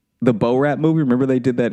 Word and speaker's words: Borat: No, I get it now that you say it, but first you were like in that Bor Rat movie. Yeah. How do you say it? Borat.